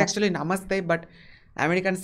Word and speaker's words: namaste: of because namaste namaste namaste it's actually namaste but americans say namaste it's actually namaste nah american and uh and